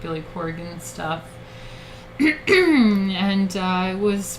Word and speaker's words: Corgan: how you say it corgan i always say corrigan like there's an eye in there corian uh well i